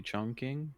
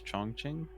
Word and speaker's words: Chongqing: just stick to chunking technically i think the uh english pronunciation is supposed to be chunking but if you're like from china it's chongqing victory like they have different pronunciations for like different languages i guess one more target yeah